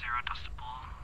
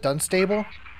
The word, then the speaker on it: Dunstable: inquest re Drive 47 dustable done stable Drive Time Out 227 oh is that how you pronounce it Dunstable yeah oh whoops dude